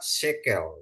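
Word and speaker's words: שקל: ya matsak ya terus ada Shin Shin kasih segol kop kasih segol terus lamet ya jadi dibaca sekel ya sekel sekel itu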